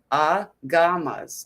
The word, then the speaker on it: agamas: Pronounced a gamas. Agamas.